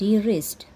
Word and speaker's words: wrist: There W is silent letter. Here we write W, but we can't pronounce the W word.